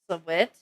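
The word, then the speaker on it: Sahwit: Sawit? Pronounced like saw. Wit.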